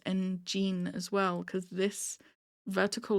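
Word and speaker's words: 엔진: Again, with the fandom name, I've been saying Engine. I've been saying Engine, and no one's corrected me on that, but this person says Engine, because it's spelled G-E-N-E as in Gene.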